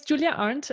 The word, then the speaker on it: Julia Arndt: you do yeah of course my name is Julia aren't and you said that very correctly and very well pronounced and I'm originally from Germany I grew